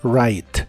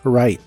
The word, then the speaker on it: write: presente de inglés es write cuando una palabra de inglés empieza con wu seguida de r normalmente no se pronuncia la W Así que en este caso es right como si tuviera una